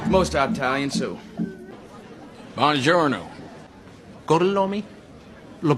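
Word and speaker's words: Gorlami: Gorlomi? Lo pronuncio correttamente?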